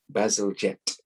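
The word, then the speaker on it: Bazalgette: solution it took a civil engineer named joseph bazalgetti his surname is pronounced basiljet okay so to come up with a solution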